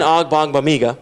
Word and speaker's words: Ogbongbemiga: Amen Ogbongbemiga. That's how you say his name.